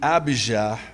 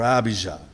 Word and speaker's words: Abijah: hebrew this the name abhija means yahweh is my father you don't pronounce the j in hebrew that's why jerusalem is